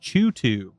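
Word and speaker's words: CHOOH2: Okay, pronounced Chutu.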